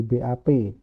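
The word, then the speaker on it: 밥: dia tetap jadi P contoh bab nasi artinya b a b bacanya BAB jadi BAP up Harusnya kan up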